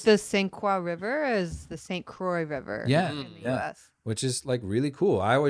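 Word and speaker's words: St. Croix: is the accurate pronunciation to how it was pronounced at the time. Like the Squa River is the St. Croy River in the US, which is like really cool.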